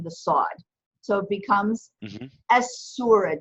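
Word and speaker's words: السورة: you still pronounce the Aleph but you don't pronounce the lamb it's a sum it's assimilated into the side so it becomes as surah 2 as surah - good clay Jen Medina how do you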